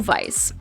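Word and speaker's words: Weisz: it right ratakowski rachel weiss the w is really pronounced like a v says our classy star rachel vice after her stunning portrayal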